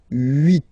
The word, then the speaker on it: huit: Remember in French, this H letter here, okay, doesn't exist phonetically, so we don't really pronounce it, okay? So if you listen carefully, you will only listen or hear these vowels at the beginning of the word.